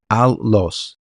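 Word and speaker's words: ἄλλος: Como ustedes ven aquí, Strong G243, en griego se escribe de esta forma, la transliteración es allos y se pronuncia allos.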